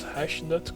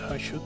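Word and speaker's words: Hashut: for a while now I always thought it was hash that copper that's I should copper apparently I don't know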